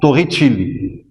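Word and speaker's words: Torricelli: se pronce ainsi s'écrit ainsi mais il se prononce Tor Chili donc en 1800 pardon 1644 il a fait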